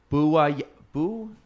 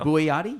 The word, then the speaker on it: Bouayadi: My guest today on episode 181 is, make sure I pronounce it correctly, Bouayadi. Yeah, there we go. Bouayadi?